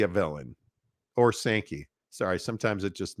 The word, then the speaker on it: Sankey: this speaking of clickbait is SEC commissioner Greg skanky a villain or sanki sorry sometimes it just mispronounces me uh is Greg sanki a villain